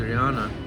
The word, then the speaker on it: Adriana: South America named Adriana, or more exactly (pronounced) ah-dree-AHN-ah What a crazy date that was.